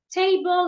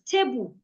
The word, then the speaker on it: table: So take, for example, if I have the word table, table has two syllables, te and bo. In my language, I would just pronounce it as tebu, tebu, or tebu. I would say the two syllables with equal energy, tebu.